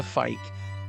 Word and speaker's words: Feick: We're honored today to have with us Fe. Now, am I pronouncing your name properly?